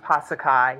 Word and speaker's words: Passacaille: Passacaille, is that how you say it? Passacaille. Kai. It's pronounced Passacaille.